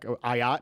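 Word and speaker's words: Ah Yat: Ayat. Is that how you pronounce it? Ayat.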